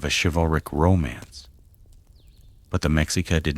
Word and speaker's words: Mexica: The people we call Aztecs called themselves the Mexica, pronounced Mexica.